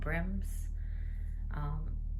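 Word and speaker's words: Brimnes: It's called Brims.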